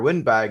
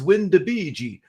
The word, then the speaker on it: WinDbg: uh student from Italy corrected me in my pronunciation of windbg or windbag and he said no it's wind de Bei so that's kind of